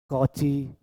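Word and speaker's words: Cauchy: बहुत से लोग उनके नाम का उच्चारण बहुत गलत तरीके से करते हैं। कोच जैसा, लेकिन यह कौची नहीं है। उसका नाम कॉची है। वह स्वर्ग में होंगे, और जो लोग उन्हें कोची कहते हैं, उन्हें बहुत दुख हो रहा होगा कि लोग उनके नाम का सही उच्चारण भी नहीं कर रहे हैं। तो, ये कोच जैसा नहीं, बल्कि कॉची जैसा है।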